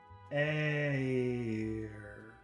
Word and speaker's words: air: Air. Air. There's like 4 sounds in there. Air. And think about in the UK or in Australia, maybe they won't pronounce the R. It's just air.